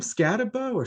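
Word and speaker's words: Skattebo: with the bet, but Cam Scatabo or Scataboo? How do you pronounce his last name? I thought it was Bo. I've been led to believe that it's Boo. And so I've heard too many people saying Scataboo lately. I'm like, maybe it's Scataboo. Yes. Okay. So because it's spelled like you would think it would be Bo because it's B-O. But I have been led to believe that I have been wrong.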